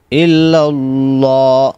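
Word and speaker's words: إلا الله: ইল্লাল্লাহ, আমজার আমজার ইল, লাম লাম জবর লাল, ইল্লাল্লাহ। অনেকে এখানে কিন্তু গুণনা করে এইভাবে বলে ইল্লাল্লাহ, এই যে গুণনাটা করলেন সম্পূর্ণ ভুল, এখানে গুণনা করা যাবে না, এভাবে বলতে হবে।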